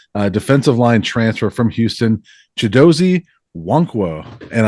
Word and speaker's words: Chidozie Nwankwo: And I think I said it right that time, right? Oh yeah, yeah, you got it down pat. Awesome. You got the silent N there, so it's a little bit confusing for some, but I know Buff fans